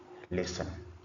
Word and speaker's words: listen: So from the examples that we've just read a few a few minutes ago, you notice that uh from the words there are some letters that are not pronounced.